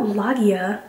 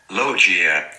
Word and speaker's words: lochia: How do you pronounce Lochia? Not Lagia. Probably shouldn't do that because I have to ask how to pronounce it. Lochia.